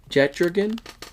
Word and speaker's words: Jetdragon: Because, dude, okay, so every single Jetdragon. Take a look right there. If you could pronounce that for me. Yeah, it's like Jet and Dragon. Jet Dragon, yeah, so it's got to be like Jet Dragon.